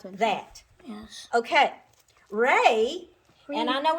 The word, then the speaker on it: re: E is pronounced A. So this is Ray, and Ray is Yeah.